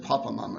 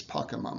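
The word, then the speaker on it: Pokémon: that that pocket mama i said it wrong last week i said papa mama it's pokemon i looked it up um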